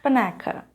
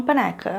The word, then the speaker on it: Panaka: nome dele é Quarsh Panaka. Se escreve Panaca mesmo. Para ajudar um pouco, o primeiro A tem um pouquinho de som de E, não sei se ajuda